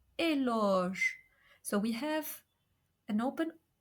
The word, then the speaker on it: éloge: First, when followed by the sound G, like in the word éloge. So we have an open O, éloge, which means praise, or horloge, horloge, which means clock.